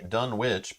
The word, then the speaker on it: Dunwich: in the knowledge uh you can say dunwich because h.p lovecraft wrote about a dunwich in the u.s so use the u.s pronunciation that makes sense to me